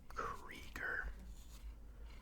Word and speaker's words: Krieger: His name is Krieger, pronounced C-R-E-E, like Cree, and then G-E-R, but it is spelled K-R-I-E-G-E-R.